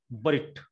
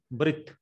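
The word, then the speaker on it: בְּרִית: Now this Shiva is vocal and it gives a small E sound of the Segol. So the pronunciation will be Brit. Brit.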